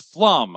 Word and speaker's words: Flum: And it's Flum. I got that right here. You guys did great. They they put this up here with all these pronunciation guides. Says rhymes with some.